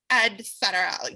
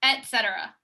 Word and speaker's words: et cetera: going around saying like it's actually gonna add cetera no it's not with the d it's with the t it's etcetera etcetera oh no i don't